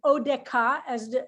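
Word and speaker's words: אודך: and by the way this pronunciation of this last word in hebrew is a little complicated so you heard that i said it oh deca so you'll notice there is a dagesh which is very unusual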